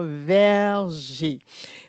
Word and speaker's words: verger: Verg parce qu'on sait hein, nos élèves pourraient dire VG parce que le er r fait e pour certains. Donc, c'est important. Oui, exactement. C'est important de leur dire verger parce qu'ils ont besoin